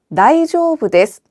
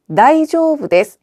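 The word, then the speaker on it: 大丈夫です: 다이조부 데스. 다이조부 데스. 이때 중간에 은은 장음으로 발음해서 다이조부 데스가 아니라 다이조부 데스라고 길게 발음해 주시고요.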